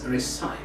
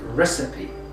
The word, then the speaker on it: recipe: its nature and so the speaker here would pronounce the recipe as recype and that's a mistake so it is pronounced recipe but you can notice